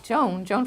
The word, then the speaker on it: Joan: Joan from the Twilight Zone, I usually say, so people remember the name because it rhymes with the Twilight Zone.